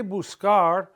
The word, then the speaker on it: buscar: But when the letter C is followed by an A, O, or U, it's a hard C sound, ka, ko, ku. When we say buscar and all these other